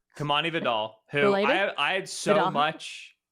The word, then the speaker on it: Vidal: I say it like Gore Vidal. Yeah. Kamani Vidal, who I had so